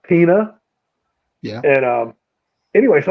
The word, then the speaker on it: Pena: ago what are you saying Paul what Pina it's spelled p n a but it's not paa because he's not Spanish he's he's from a different origin so it's pronounced Pina yeah and um anyway so I did a